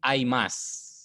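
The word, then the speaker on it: 会います: pertama ada tomoa Cini Aimas ini bentuk u-nya enggak dibaca Pak udah bilang kemarin Tomini Aas bertemu dengan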